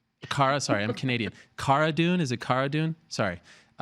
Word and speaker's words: Cara Dune: right except for me okay so Cara dune like Carano Cara dune okay and there she